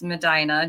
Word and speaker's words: Medina: is that right yes you said it right usually everybody butchers it Medina but yes it's Medina just south of Cleveland